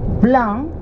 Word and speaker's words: blanc: And vin blanc, B-L-A-N-C, B-L-A-N-C, blanc is white wine.